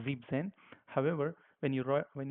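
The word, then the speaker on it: siebzehn: as you see here 17 it was not Z and Zen but it was Z Zen however when you WR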